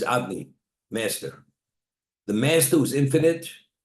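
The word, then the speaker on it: Adonai: The pronunciation is what? Is Adni, master.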